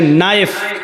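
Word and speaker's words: knife: जैसे इंग्लिश में नाइफ किसको कहते हैं, चाकू को। नाइफ के माना चाकू, लेकिन के लिखा जाता है, बोला नहीं जाता, वो साइलेंट रहता है।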